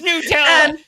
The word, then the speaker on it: Nutella: Everybody, I fighting over the pronunciation of fucking Nutella, Nutella. Goddamn, you know what we're talking about, fuckers. It's Nutella.